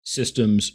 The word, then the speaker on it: Systeme: And in French, it's pronounced more like Systeme, but I'm just going